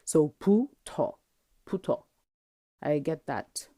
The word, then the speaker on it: 부터: 부터, 부터. It's not exactly a hard b. It's more like an aspirated b, so it's sort of halfway between a b and a p. So 부터, 부터.